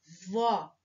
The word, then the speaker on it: vovó: ah e pode ser vovó a identificar vô vó ao acento agudo vó sílaba mais forte vó acento agudo imagine que a fivelinha